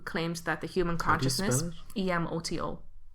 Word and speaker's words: Emoto: that the human consciousness, Emoto. Oh, okay. So I said it right. Yeah, I thought it was Emoto, which is like little sister.